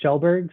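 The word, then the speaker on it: Skjellberg: is not a uh the easiest name it's pronounced shelberg so I've always uh thank my father for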